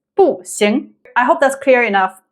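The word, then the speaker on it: 不行: Another example is 不行. 行 carries the second tone. 行. So it's 不行.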